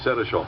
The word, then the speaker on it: Senechal: finished all right that's exactly what i said seneschal thank you very much now carol for those